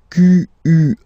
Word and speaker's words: quel: Quel, masculine form here, will be pronounced exactly as the feminine form here. Quel. So, only one sound, okay?